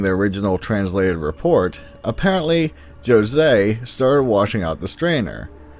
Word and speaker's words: José: As such, you may hear names like this, which you may naturally think is pronounced Jose, but in Portuguese it is actually said as Jose.